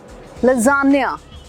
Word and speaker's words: lasagna: Italian word है, मगर इसको क्या बोलते हैं? लजानिया। अगली बार कॉन्फिडेंटली बोलना लजानिया खा के आया हूँ, या फिर वेटर को बोलना मेरे लिए लजानिया।